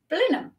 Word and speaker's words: Blenheim: as everybody else and decided that it is pronounced balloon so that's where I live um and I